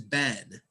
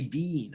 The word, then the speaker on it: been: there's two e but the pronunciation is Ben a British people say bean I have been here